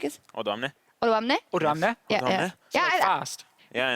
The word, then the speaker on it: Odoamne: Odoamne. Odoamne? Odoamne? Yeah. Fast. Yeah, and you're kind of like gasping at the end, and you're like, Odoamne.